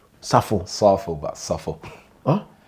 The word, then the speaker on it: Sarfo: Safo. Safo.